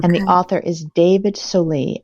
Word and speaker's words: David Solie: And the author is David Solie, Solie.